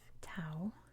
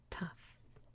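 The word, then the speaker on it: ταυ: just like in english except in english we call this tau but in greek it's tough tough tough tough and it's just a regular t sound five more letters to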